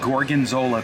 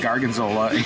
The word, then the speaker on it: gorgonzola: about this grape and gorgonzola pizza i called it garganzola in justin's video so i pronounced it fine on ours um one of you